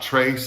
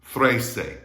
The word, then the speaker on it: trece: Remember, it's not trace, it's not trace, it's not tracy, it's trece. That TR is like a THR in English, just like in the English word 3.